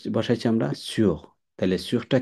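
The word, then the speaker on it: sous: এরপরে আসি আমরা সু, এটা হচ্ছে সুর, আর এটা হচ্ছে সু, এস ও ইউ এস, এসটা উচ্চারণ হবে না লাস্টের, এটা হচ্ছে সু।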